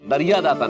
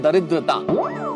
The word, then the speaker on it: दरिद्रता: अरे नहीं नहीं, ये दरिया दाता नहीं, इस शब्द का उच्चारण है दरिद्रता. दरिया दाता तो फिर कोई और ही शब्द हो जाएगा भाई.